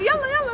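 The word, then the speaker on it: يلا: And yalla, let's move.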